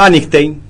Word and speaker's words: Anigstein: ¿Cómo se pronuncia tu apellido? Antein.